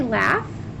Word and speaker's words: laugh: This word rhymes with calf. What word am I thinking of? Did you say laugh?